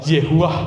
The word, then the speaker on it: YHWH: Jadi yang di Ibrani itu YHWH itu ya kalau di Mas itu bacanya Yehuah begitu.